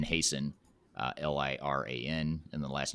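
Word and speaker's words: Hason: the the company name uh so it's hasten uh l-i-r-a-n and the last name is hasten h-a-s-o-n and the company is spelled aporia a-p-o-r-i-a but what is the website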